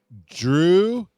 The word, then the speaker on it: Druddigon: I just Googled pronounce and I copy and pasted. Druddigon.